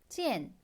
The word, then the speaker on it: 见: 자, g엔 발음 어려운 거 없고요. 성조 몇 성? 4성. 씩씩한 소리 내면 되죠. 찌엔 하시면 됩니다.